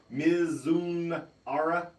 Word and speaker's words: Mizunara: It is the Kentucky Straight Whiskey finished with Japanese Mizunara. How do you say? Mizunara.